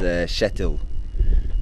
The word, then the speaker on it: Kjetil: it's a bit difficult, but the pronunciation is Kjetil.